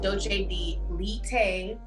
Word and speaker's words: doce de leite: I've actually had an amazing Brazilian dessert called doce de leite. Gideon just told me how to pronounce it correctly.